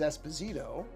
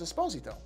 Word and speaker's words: Esposito: now often mispronounced as Esposito but it is not actually supposed to be pronounced that way he's very specific about that and he's correct the Italian pronunciation of the last name is a sposito and you'd probably know